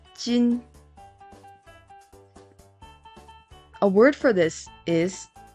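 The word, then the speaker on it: 金: Friday has pronunciations kin, kin. The pronunciations kin and kane. Kin can be used in kinyoubi, and kane can be used in okane. Kinyoubi means Friday. Okane means money. The Chinese pronunciation is jin.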